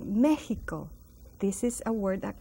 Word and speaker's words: Mexico: notice the word Mexico it has an X and it's pronounced as a j meico this is a word